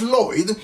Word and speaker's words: Lloyd: the name of Charles Lloyd. So first name is spelled as you hear, so Charles, and last name is spelled Lloyd, so basically L-L-O-Y-D.